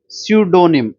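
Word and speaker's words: pseudonym: है नेक्स्ट हमारा हमारा सडोनिम सी सडोनिम सडोनिम का मतलब होता है क्या झूठा नाम सडोनिम मतलब होता है झूठा नाम सडोनिम मतलब होता है झूठा नाम इसमें पी साइलेंट है ठीक है याद हो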